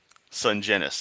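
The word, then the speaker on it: Sungenis: Sungenus. Okay, so it's properly soft G like in GIF.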